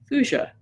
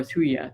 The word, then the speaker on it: Thuja: Number one, any vaccination your pet gets, you really, really, really ought to follow it with Thuja or Thuja, depending on how you like to pronounce it.